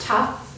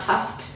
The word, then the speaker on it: Tuff: these plans, I believe it's pronounced Tuff, not Tuft. I think it might have been, yeah, Tuff with two F's, not with a T at the end.